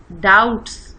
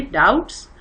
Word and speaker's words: doubts: ڈاؤٹس، اس میں be silent ہے بیٹا، ڈاؤٹس DOUBTS ہے اس کی spelling, but بی از not pronounced and اٹ is silent, تو اس کو ہم پڑھیں گے ڈاؤٹس.